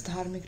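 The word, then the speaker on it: धर्म: Okay, that's how we pronounce it in Hindi, and it's a Hindi word itself.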